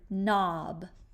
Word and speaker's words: knob: today we're working on spelling the n Sound with the silent k so we write k n what's the second sound